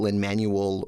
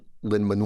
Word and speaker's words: Lin-Manuel: Lin at school because I couldn't take a lin-manuel or linman well I said Lin Lin is fine and then Ling man waited